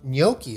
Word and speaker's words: gnocchi: no I'm not saying no key I'm saying gnocchi is the name of the pasta It's a